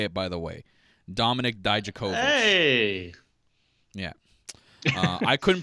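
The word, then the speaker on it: Dominik Dijakovic: Last week, I couldn't pronounce the name Dominic Dijakovic. That's exactly how you say it, by the way. Dominic Dijakovic.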